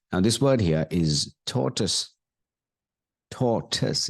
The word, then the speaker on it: torus: this word here is torus torus it's like Torus it's not totoys it's totus so point one that